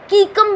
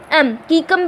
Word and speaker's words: caecum: हम क्या बोलते हैं, कीकम भी बोलते हैं। स्पेलिंग है CAECUM, कीकम भी होता है, जो कि किस